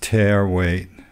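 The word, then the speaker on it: tare weight: And yeah, that's pronounced tear weight, unless you're a coon ass.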